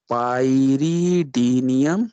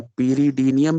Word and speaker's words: pyridinium: पाइरीडीनियम या पीरीडीनियम भी प्रोनाउंस करते हैं, पीरीडीनियम, पीरीडीन से पीरीडीनियम chlorochromate.